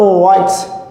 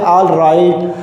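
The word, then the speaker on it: all right: It means जब भी हमारे पास ए और एल एक साथ आएगा तो हमारा प्रोनाउंसिएशन निकलेगा ओ, इसीलिए हम कहेंगे ओ राइट.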